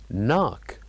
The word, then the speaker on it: knock: so we can know what is the missing or the silent letter knock knock so what do you think the silent letter is of course it is letter K knock and then we'll move